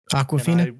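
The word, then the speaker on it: Awkwafina: Aquafina. Aquafina. Yeah. I Like never the heard of water? her before. She was my favorite character. Favorite character of the movie. She was amazing. She was great. Aquafina?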